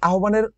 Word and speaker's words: আহ্বান: আহ্বান গল্পের ভিতরে কি কি আছে দেখো, এই যে আহ্বান, এই আহ্বানের সঠিক উচ্চারণ আহ্বান।